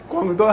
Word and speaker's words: Guangdong: Canton is the spelling the British went with when they first went to China and that's why the language is called Cantonese. Guangdong is the proper Mandarin pronunciation and official name.)